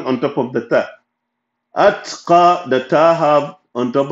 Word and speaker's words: الأتقى: أتقى, أت, ت, ت, only tip of your tongue will pronounce that because of the سكون in the ta.